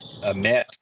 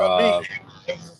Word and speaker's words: Amite: Patrick to win on the road against Amet. Is that how you pronounce it? Amet Rebels. They Yeah, were Amite.